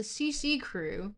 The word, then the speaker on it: CCRU: Um Liisa from Hi Jinx is reading the original CCCRU or sorry CCRU texts which is actually pronounced the CC crew if you would believe that.